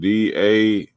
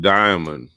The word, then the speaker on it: daimonion: So Merriam-Webster, the first definition, he said DAIMONION. That's daimonion. That's not diamond. He tried to pronounce it diamond. Throw y'all off. That's day. Diamond is DIA. This is DAI. Daimonion. And let's see what the definition says.